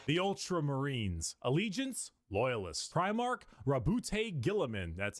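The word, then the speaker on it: Roboute Guilliman: Rabbout Gillaman.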